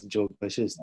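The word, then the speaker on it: Yoga Vasistha: For instance, the pronunciation of Yog Vasista as Jog Vashist is because of this vernacular mediation.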